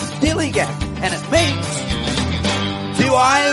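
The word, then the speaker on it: DILLIGAF: That's spelled D-I-L-L-I-G-A-M. Dilly Gaff.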